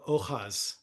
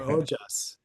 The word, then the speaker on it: ojas: in in yoga called ohas or ojas. Ojas, which is uh ohas is how they say it in Mexico.